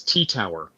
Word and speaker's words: T-TWR: If you just search for LilyGo T-TWR, and I pronounce this T-Tower. I could be wrong, but that's what I call it, because T-TWR plus is hard to say.